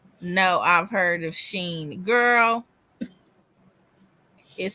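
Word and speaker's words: Shein: you know she said no I've heard of Sheen girl is spelled s-h-e-i-n um Sheen yeah how that spelled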